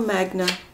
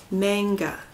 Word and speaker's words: manga: Gemini you got traditional Magna mang manga sorry I always say it wrong and the kids correct me manga Tara traditional classic this